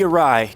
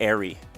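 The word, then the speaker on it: Eyrie: To the Arai, game 2. Yeah, I think it's actually the Airy. That's what they say is the Airy. That's supposedly the correct pronunciation.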